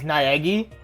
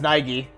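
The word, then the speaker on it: Naegi: the way how English people say it is Nagi but it's like it's pronounced Nigi for Makoto's name Mak it looks like a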